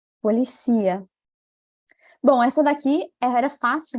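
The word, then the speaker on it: policía: deixa ver se dá para você escutar a pronúncia correta é policia bom essa daqui era fácil né porque tinha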